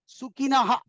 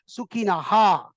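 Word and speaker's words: सुखिनः: Before ksha, if visarga, that is these two dots come, you have to stop there. So ksha says, hey, stop, don't pronounce, full pronounce, don't do any sandhi, means don't join. So that is why we have to say sukinaha, then kshatriya.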